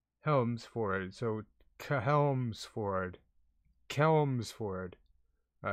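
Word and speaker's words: Chelmsford: wait wait wait helms for it so cahelmsford kelmsford all right quick quick wait chi chester chi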